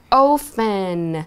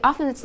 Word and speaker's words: often: Okay, so 我们看一下 often. So often, 有些人会念 often, 但是我自己是念 often. 看你们 like, a lot of British people pronounce this word as often.